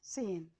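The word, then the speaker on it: zehn: अब सेन में, सेन को के स्पेलिंग आप देखेंगे तो ये सेट ए हा एन है। इसमें हा जो है हा की आवाज़ नहीं देता, बल्कि ये ए की आवाज़ को लंबा करने के लिए आया है, तो इसको हम कहेंगे सेन।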